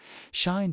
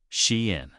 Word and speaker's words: SHEIN: Shine didn't just join this culture.